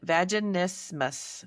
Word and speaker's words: vaginismus: vaginismus. Yeah. Vaginismus.